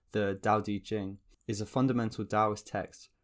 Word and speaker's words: Dao De Jing: teaching by loud to the towel teaching or more accurately pronounced the Dao de Jing is a fundamental Taoist